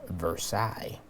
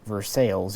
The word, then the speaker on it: Versailles: to the treaty of versailles or versailles if you live in kentucky don't at me about that i'm not mocking our friends in kentucky center fire systems is in versailles and that's how they pronounce the town it did confuse me